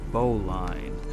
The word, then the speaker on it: bowline: It's called Haul on the Bowline, but the British pronunciation of bowline is bowlin, so I'm going to sing it with them, with the British pronunciation.